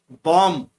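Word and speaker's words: bomb: Fifth में बॉम्ब, बॉम्ब में जो पीछे वाला बी है उसको अंडरलाइन किया है, वो साइलेंट रहता है।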